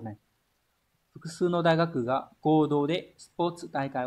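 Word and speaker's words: 合同: Đọc là Godo.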